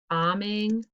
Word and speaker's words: bombing: the answer kids were bombing the fort with snowballs all right if you unpause you can check yours to mine should be a capital k and kids bombing there's an mb silent b and then i think